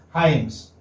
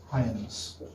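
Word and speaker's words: Hymes: This is pronounced as Hyams. Okay? How will you? Like, this is how. Hyams.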